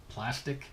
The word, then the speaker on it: Plastiq: A few of these services are Plastic. It's spelled Plastiq.